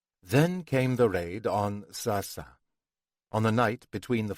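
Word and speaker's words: سعسع: The Arabic pronunciation uses two lengal a but the sign to the entrance of the kibuts built on the ruins of the Palestinian village points to sasa. Hebraization having done away with the throaty pronunciation of the Arabic difficult for Europeans to master in favor of the obviously more European soft sounding a Palestinian houses have survived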